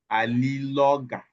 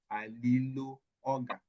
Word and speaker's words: Aliloga: Okay, so bottle is pronounced as alilo. A bottle of oil is pronounced as aliloga. Two words there. This is bottle. This is oil. This is bottle. This is oil. So bottle of oil. Alilo oga. Alilo oga. Aliloga. Do you understand?